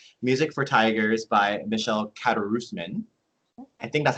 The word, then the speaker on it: Kadarusman: I talked to the girls before about how I kept on mixing it up with Kardashian all the time, but it's not that hard. You just like phonetically read the name out. It's actually pretty simple.